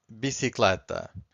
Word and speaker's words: bicicleta: So universal means universal, teste means test, and the last one is bicicleta. Bicicleta. So once again, I'm stressing the second to last, and bicicleta means bicycle.